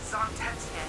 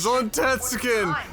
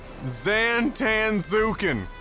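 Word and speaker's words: Zantetsuken: Zontetsuken! Alright, you wanna know what Brian and I called that when we were kids? Like 7, 8 years old? You wanna know how we pronounce that? Zantanzuken!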